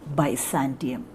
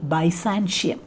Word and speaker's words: Byzantium: to analyze this poem by santium some people used to pronounce it by sanshee now but i feel that the better pronunciation is by santium uh and so here